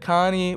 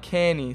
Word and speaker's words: Cairney: And Bacon Boy also said Carney. Well, I was saying Carney. It's pronounced like Cairney.